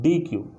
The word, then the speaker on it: deque: बट अगर मैं बात करूँ डबल एंडेड क्यू, तो डबल एंडेड क्यू का जो प्रोनाउंसिएशन होता है वो क्या होता है, डी क्यू।